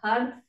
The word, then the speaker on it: Har: to use the mantra Had and then Hari. So 7 times we'll chant Had. It's spelled H-A-R, but when we say it, we really want to be contracting in our belly.